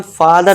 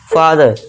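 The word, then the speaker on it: father: अब देखिए इसे हम फादर नहीं पढ़ते। इसे हम क्या करते हैं? देखिए लास्ट में देखिए आर है तो यहां पे आर को साइलेंट रखेंगे। इसे क्या पढ़ेंगे हम? फादर फादर।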